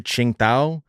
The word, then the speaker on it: Tsingtao: I only know because I'm a big fan of the Asian beer Tsingtao, so I know that you don't pronounce the the T and the S.